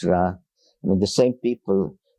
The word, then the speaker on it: Ra: and the Egyptian bra some say re but it's ra I mean the same